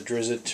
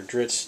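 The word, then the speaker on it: Drizzt: the ra Salvatore books the drizzit or drits depending on how you pronounce it so I figured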